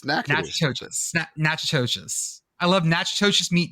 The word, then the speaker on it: Natchitoches: Look like they should be pronounced the same, though.